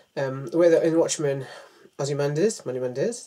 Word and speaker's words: Ozymandias: This could be like, spoiler moment, if you've not seen Watchmen, the way that in Watchmen, Ozymandias, that's how you say his name, tries to unite the world by doing a great crime.